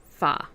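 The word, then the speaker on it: pho: harder to find but it's spelled p h o and pronounced fa so see if they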